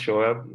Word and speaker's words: Shoaib: Yeah, so for like it's pronounced Shoaib, like it's a complicated word.